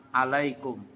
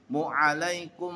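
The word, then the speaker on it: عليكم: Alaikum. Asalamualaikum warahmatullah. Assalamualaikum. Alaikum. Salah. Ini bukan huruf hamzah tapi ditekan a. Assalamualaik mu mua mua mualaikum warahmatullah.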